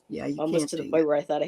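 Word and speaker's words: Tighe: How do you pronounce Jean. Jean's last Teague? Oh, T.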